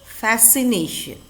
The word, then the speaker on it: fascination: with interest fascination fascination here c is silent how will you say the word fascination number five the judge